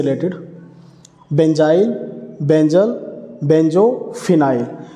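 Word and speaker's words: phenyl: Benzene का अगर एक हाइड्रोजन निकाल देते तो उसको कैसे प्रोनाउंस किया जाता है, कैसे लिखा जाता है, फिनाइल बोला जाता है उसको।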